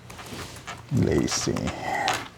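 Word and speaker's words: LACI: me bring up the website so la clean Lacy I'm gonna spell it l-a-c-i so we're in the world famous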